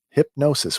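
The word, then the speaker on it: Hipgnosis: hip Joe hypnosis hypnosis hypnosis with a silent G yeah hipnosis uh others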